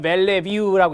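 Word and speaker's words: Bellevue: 제안은 1949년에이 볼더모형이 제한되고요 그 다음에 웩슬러 벨레뷰라고 읽습니다 지능척도 출판입니다 웩슬러는 임상심리학자였습니다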